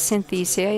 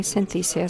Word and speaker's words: Synthesia: again applaud to this because Synthesia is the correct way to pronounce the name of this company Synthesia so being jokes and